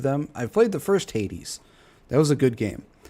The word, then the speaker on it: Hades: That bugs me he's pronounced it as hates. It's Hades, but Arc Raiders, how is Arc Raiders hateful of men?